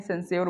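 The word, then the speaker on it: censure: नहीं सॉरी, यहाँ पे जो वर्ड है हमारा सेंस्योर, सेंस्योर, इसको सेंसर नहीं पढ़ते हैं, सेंस्योर बोलते हैं, ठीक है?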